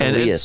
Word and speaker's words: Elias: It's Elias, by the way.